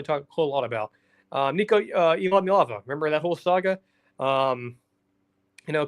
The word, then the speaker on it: Iamaleava: But Nico Iamaleava, the player, let me race to that because I think I said his last name wrong. Nico Iamaleava, there we go.